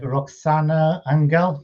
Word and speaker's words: Roxana Anghel: time spotlight podcast without raju my special guest roxanna angel is that you pronounce it yes perfect yes very very talented